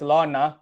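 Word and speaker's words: ln: make this mistake guys it's pronounced as lawn so next time when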